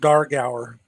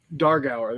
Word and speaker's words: Dargauer: to call them like dugard durgar how's it pronounced that's pronounced dargauer dargauer there you go i i loved